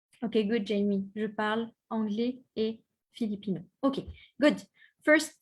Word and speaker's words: anglais: Je parle anglais. Je parle anglais. If you want to say, I speak English. Okay, I speak English. Parfait. Je parle anglais. The S, you don't pronounce it. Okay, it's always silent.